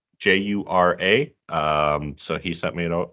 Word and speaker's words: Jura: So it's on a island there, and I think I looked up this pronunciation beforehand as Jura, Jura.